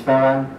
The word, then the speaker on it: Ferran: The name was actually pronounced quite okay. My name is Ferran.